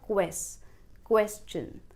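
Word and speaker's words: question: English language में जब भी वर्ड्स TION से एंड होते हैं तो वो शन साउंड प्रोड्यूस करते हैं, जैसे कम्युनिकेशन, प्रोनाउंसिएशन, पर ये एक्सेप्शन है. यहाँ पर जो ये TION है ये शन नहीं बल्कि चन साउंड प्रोड्यूस करेगा, और जो पहला सिलेबल है वो पढ़ा जाएगा क्वेश्चन.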